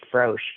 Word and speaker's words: Frohse: called the arcade of, I've always pronounced it Froche, but it's FROHSE, so it's probably something different than that.